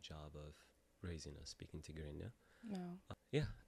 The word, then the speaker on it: Tigrinya: Tigrinya.